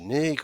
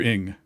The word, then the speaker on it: Ng: So is it Andrew Nig or Andrew Ning? Andrew Ng. Andrew Ng.